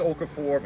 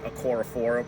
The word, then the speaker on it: Okorafor: Chuck's Okafor, I've been saying his name wrong the whole time. I'm going to continue to do it. It's actually Okorafor, whatever.